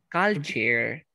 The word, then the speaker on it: culture: Todas las palabras que terminen en ure, pronúnciala como si fuera chair. ¿Ok? Por ejemplo, ¿cómo se pronuncia cultura? Cal. Culture.